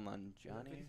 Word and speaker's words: Nanjiani: I can't pronounce his last name. It's Kumail Nanjiani.